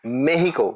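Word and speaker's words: México: ये जो है ये इनका प्रोनाउंसिएशन भी मेहिको मेक्सिको मेहिको भी बोलते हैं मेक्सिको के इनकी अपराइजिंग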